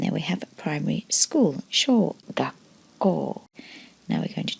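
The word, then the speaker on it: 小: There's the kanji for small, pronounced sho.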